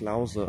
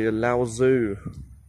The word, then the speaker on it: Laozi: Laozi is pronounced Laozi. Okay, in Mandarin Chinese, but a lot of times people mispronounce it and they say Laozi or Lao Tzu or whatever. So it's like Laozi, L-A-O, and then it's Z-I.